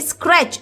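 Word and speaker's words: scratch: turn पे ही गॉट स्क्रैच इस क्रै च है ना देखो मैंने आपको बताया था च की साउंड होती है सी एच इस रै टी की साउंड नहीं है यहां पे साइलेंट है स्क्रैच स्क्रैच च मतलब उस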